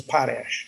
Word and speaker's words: Potash: ours you know so but the family our family pronounce is Poes Poes okay and um but I've heard potes is probably more popular more prevalent to me